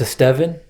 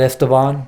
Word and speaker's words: Estevan: For anyone that knows me or has met me at some point, my name is pronounced Estevan, not Esteban, not Esteban. It's Estevan.